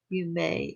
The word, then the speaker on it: Yume: So the artist Yume is pronounced that, and this is also Yume.